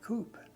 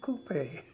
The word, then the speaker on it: Coop: He asked me my name. And I told him. I said, Coop. He says, "Oh, Coupe." That's the way they pronounced it.